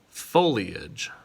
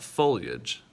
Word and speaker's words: foliage: are plants this is this is our foliage not foliage it is foliage foliage also we have officially